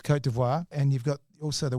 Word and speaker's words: Côte d'Ivoire: You've got gold mines that are in if you could pronounce this correctly, Côte d'Ivoire. It's Côte d'Ivoire.